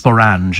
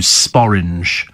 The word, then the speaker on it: sporange: with orange is sporange see it's pronounced sporange as opposed to sporing you know uh which